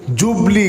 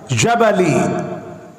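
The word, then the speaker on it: Ghibli: ওই জায়গাটাকে আরাবিয়ানরা বলে জাবালি। জিমকে অনেক জায়গায় গাইনের মতো উচ্চারণ করে, বলে গাবাল। এই জায়গাটা জাপানিদের খুব পছন্দ হয়েছে।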